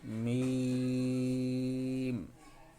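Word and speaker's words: ميم: আরেকবার বলি লাম তারপর মিম মিম হরফটিও লামের মত উচ্চারণ হবে দীর্ঘ সময় মিম তারপর নুন আরেকবার বলি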